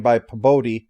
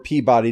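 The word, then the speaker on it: Pabodie: camps would Dyer join bypa bode or Peabody depending on how you wish to pronounce it who was the creator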